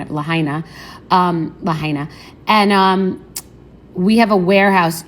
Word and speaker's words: Lahaina: This is bigger than the Paradise fires, and this seems like bigger than Lahaina, if that's how you pronounce it, Lahaina.